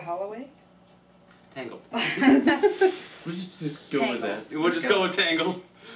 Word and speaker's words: Tangl: we'll just go with tangled that's Tangled t-a-n-g-l like the mess your hair gets in okay thank you yeah